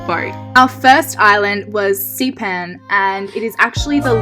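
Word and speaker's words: Šipan: our first island was Sipan and it is actually the largest of the LFE islands in Croatia I hope I'm pronouncing that right and I googled it and it's actually pronounced sheep hen and how could you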